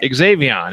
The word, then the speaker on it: Xavion: Xavion. Oh, It was actually, Xavion. it looks harder than it actually is to say, because the Mighty Mites roster was very challenging.